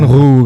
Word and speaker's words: rue: Kalau di Prancis harusnya kan bacanya kan ru kan kayak ya elah ribet banget.